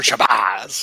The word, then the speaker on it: Shabazz: I know how to pronounce his name. It's Professor Shabazz.